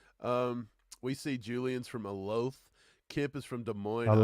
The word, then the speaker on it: Olathe: South Dakota but um we see Julian's from a loaf Kip is from Des Moines how do you say that it's Olathe or yeah I'm out of my mind today